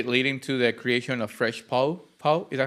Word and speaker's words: Fresh Pow: sure so ultimately leading to the creation of fresh po po is that how to pronounce it yeah fresh our podcast and honestly